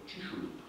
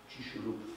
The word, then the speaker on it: Chicxulub: Nawet to ostatnie, gdzie mamy dowód zbrodni w postaci krateru Chicxulub, tak się to wymawia podobnie w Meksyku. Chicxulub w Meksyku i gdzie rzeczywiście impakt asteroidy około 10-kilometrowej nastąpił, to był cios łaski.